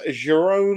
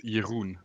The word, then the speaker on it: Jeroen: our third place finisher jerome vatlet jerome how do you say your first name actually it's jeroen uh see i had